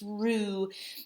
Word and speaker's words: roux: a roux this is rue not rocks it's rue the x is silent on the end it's a french word it's rue so a roux is